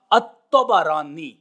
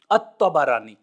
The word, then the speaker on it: الطبرانی: الطبرانی، تا، با اور را کے فتحہ کے ساتھ، الطبرانی، یہ نسبت ہے۔ اب